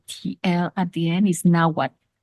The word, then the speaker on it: Nahuatl: In this documentary, they say Nahuatl, and that's not how it's pronounced. The TL at the end is Nahuatl. It's just basically kind of a silent pronunciation of the T and the L.